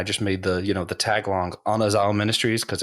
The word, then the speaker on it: Anazao: So it's technically pronounced Anazao because there isn't like an eh sound in like the Koine Greek, which is really difficult. So we pretty much all say Anazao anyway.